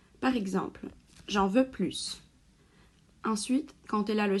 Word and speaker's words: plus: qui apprennent le français plus ou plus comment prononcer on va commencer par les cas où ce mot prononce comme plus c'est très simple tout d'abord quand c'est en substantif par exemple de plus de font 4 puis quand il est enfant de phrase ou suivi d'une pause par exemple j'en veux